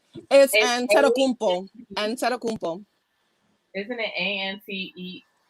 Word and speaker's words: Antetokounmpo: It's Antetokounmpo. Antetokounmpo. Isn't it ANTEKUMPO?